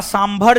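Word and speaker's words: Tso: इसका सबसे बेहतर उदाहरण इसका सबसे बेहतर उदाहरण राजस्थान का सांभर झील। इसका सबसे बेहतर उदाहरण राजस्थान का सांभर झील कोमा लद्दाख का लद्दाख का लद्दाख का सो झील सो त साइलेंट है।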